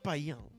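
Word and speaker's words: Payns: bajo el liderazgo de Hugo de pan así se pronuncia pan Hugo de p u sería hu de pan Hugo de Payán inicialmente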